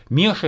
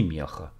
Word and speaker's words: Меча: Это маленький, незначительный город, выстроенный на высоком холме, у подножия которого протекает река, впадающая в Дон, называется она Меча или Меца, но люди произносят ее название как Меша или Меха.